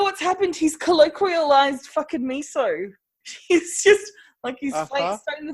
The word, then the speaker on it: miso: a Z from in miso? And in Japanese, it's miso. But, it's not that far from English. How do you get mizzo?